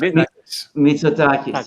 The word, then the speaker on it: Mitsotakis: Yes, Mitsotakis.